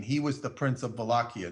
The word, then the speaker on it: Wallachia: The border between, when I say border, I'm talking about the province of Wallachia, spelled with a W, Wallachia is how you say it, and Transylvania.